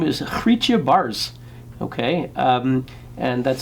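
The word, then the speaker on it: Baars: first name last name bars b a a RS my Dutch friends tell me it's pronounced bars more or less and she is a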